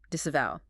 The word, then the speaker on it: disavow: Disavow.